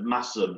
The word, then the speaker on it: Masham: So one of the things that I need to do is, in my excitement, I mashed potatoes for Masham instead of Massam.